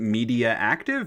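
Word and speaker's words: Mediactive: by Digital Illusions Canada and published by TDK Media Active with a 51 game rank. Media Active is good. I like that. Like one of those names. That's a good one. Would you pronounce it Mediaactive?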